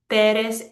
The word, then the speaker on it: Pérez: So let's look at these names, López, Pérez, Hernández, Gutiérrez. Whenever they end in a Z, they're breaking the rule. López, Pérez, Hernández, Gutiérrez. We're stressing the second to last syllable.